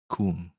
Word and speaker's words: Khuon: Ah, well, it's pronounced Coom.